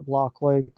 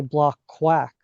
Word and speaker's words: Blockquake: So, uh, backstory with our name, like it's it's pronounced block quake, blockchain earthquake, right? Uh, that was how we came up with the name, but folks often mispronounce it and they say block quack often, like quack like a duck.